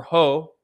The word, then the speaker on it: JOH: is juan orlano hernandez he's known by his initials joh or ho it's how it's pronounced in latin america now the u.s government